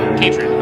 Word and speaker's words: Katred: But now, when it comes to the tone, we need to see the Clockwork Angel Katred. Rhymes with hatred. Got it. Katred.